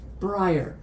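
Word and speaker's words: Breyer: He said brier. Okay. Like the ice cream.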